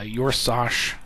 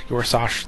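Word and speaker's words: Yor'sahj: So, uh, uh, Yoros, I'm assuming that's how that's said. Your is is pronounced, I should say, Yorsash, the Unsleeping.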